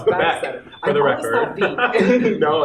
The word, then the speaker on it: Beeck: Yeah, it's Beeck, for the record.